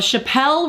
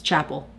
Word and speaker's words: Chappell: I talked about this on my Instagram story, but have you seen the video of Chappell Roan in, that's not how you say it, is it? It's Chappell.